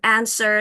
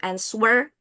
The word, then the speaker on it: answer: And then answer you don't pronounce the w-nya enggak dibaca. answer bukan answerwer. There is no w there.